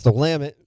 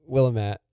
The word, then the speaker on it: Willamette: Valley it's a joke it's the lament I didn't foreigner Outsiders say well I'm Willem at so sometimes I like